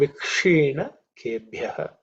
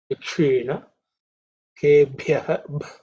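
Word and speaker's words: विक्षीणकेभ्यः: Namo Vikshina Kebhyah. So, in terms of pronunciation, this Ksha, the Ksha is cerebral Ksha, Vikshina Kebhyah. So again, the fourth letter in the Pa Varga.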